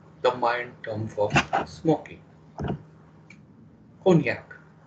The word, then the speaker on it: cognac: mind term for smoking konyak pronounced as cognac cognac is a brandy made